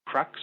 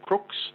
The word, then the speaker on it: Crux: name for that constellation is crux or crooks if you want the correct pronunciation and then just near